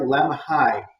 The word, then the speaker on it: Lemhi: the early days of lemhi county and it's very fun for when you have time oh that does sound fun pronounced like lamb high i think i did